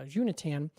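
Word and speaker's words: Xuntian: Unit will uh I'm sorry, uh Junatan, that's actually I think the correct pronunciation is uh uh Junatan will survey enormous regions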